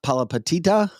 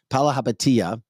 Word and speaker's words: Chamath Palihapitiya: Just listen to this Democrat billionaire, Chamath Palihapitiya. I'm trying to pronounce his name right. Palihapitiya.